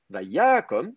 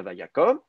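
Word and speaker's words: ויקם: Dans le cas du VAYIKTOL, je vais même faire remonter le temps. VAYYA KOM et non pas VAYAKOM.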